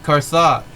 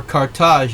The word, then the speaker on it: Carthage: the chief god of ancient carthage or cartage as some pronounce it he was a weather